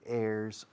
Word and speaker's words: heir: can specify who your heirs are and how much you want each heir to inherit. Heir, suena a aire, ¿no? Heir. Heir es un heredero. Se escribe, the spelling is H-E-I-R.